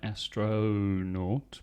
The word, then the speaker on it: astronaut: Yes, another vowel sound, the O, the O. Astronaut, astronaut, spelt with an O though, astronaut, but the pronunciation is obviously with a schwa.